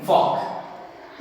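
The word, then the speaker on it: folk: उसी तरह से TALK हम इसे कहते हैं ट्रॉक, उसी तरह से याद रखना है हम इसे कहते हैं फॉक।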